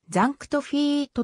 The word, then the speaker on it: ザンクト・フィート: あり紅葉読みの発音をカタカナ表記した場合最も近いものはザンクトフィートとなるが日本では